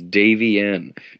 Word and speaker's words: Davienne: And a lot of people have trouble pronouncing that name, but that's all right. It's Davienne.